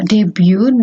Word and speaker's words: debut: dari BS dengan eh debu di basanya bukan debut ya kalau debut itu bahasa Kalau bahasa Inggris dibacanya Deb eh salah satu lagunya